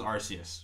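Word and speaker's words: Arceus: I told you I told you it was arus what the are you doing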